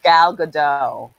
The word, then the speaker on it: Gal Gadot: Like, Yes, it's Gal Gadot.